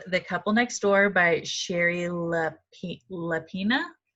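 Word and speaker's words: Shari Lapena: It is called The Couple Next Door by Sherry Lapina. Sherry Lapina, is that correct?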